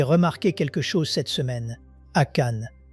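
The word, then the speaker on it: Achan: Akan. En anglais, ça s'écrit A-C-H-A-N.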